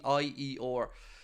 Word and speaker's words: Beier: But Florian Plettenberg has given a bit of an update on Hoffenheim's 21-year-old attacker Maximilian Bayer, or Bayer, I'm not sure how I pronounce it. It's Beier. He said that he's adamant